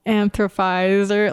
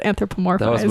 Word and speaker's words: anthropomorphosis: I struggled a little what did I say like anthropizer like you like you skipped the middle syllable somewhere something was off I just remember that okay because it is anthropomorphosis when I was five